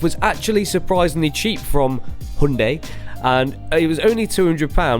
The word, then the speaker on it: Hyundai: It's Hyundai.